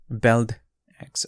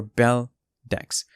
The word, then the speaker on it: Beldex: new project that's called belt x or bell decks um the pronunciation is up to you it's objective uh whether you want to whichever way you want to pronounce it but in this video